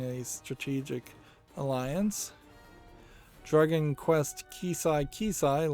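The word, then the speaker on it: Keshi Keshi: Dragon Quest Kisai Kisai launches, or is it Kishi Kishi? Probably is Kishi Kishi. Yeah, that's how you pronounce that.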